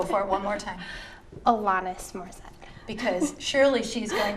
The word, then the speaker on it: Alanis: If Mark Goldie sees this video, it's Alanis. Oh, Yeah, gotta pronounce that name right. I'm sorry. okay. Go for it one more time. Alanis Morissette.